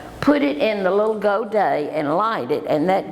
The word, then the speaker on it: godet: Now, while we're talking about pronunciations, there's another word that I'd like for you to learn, and that is godet.